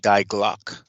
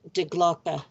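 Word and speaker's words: Die Glocke: i sort of think that that's what the dye glock was capable of the uh nazi or what would be the nazi bill that's pronounced de glocka okay all right and it was a attempt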